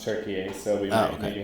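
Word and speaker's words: Türkiye: It's now pronounced Turkey, so we might okay.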